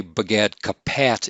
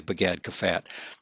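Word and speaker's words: Begadkefat: When a Pe is in the middle of a word, it usually has the F pronunciation, so we say Bagad Kafat. But you can say Bagad Kapat.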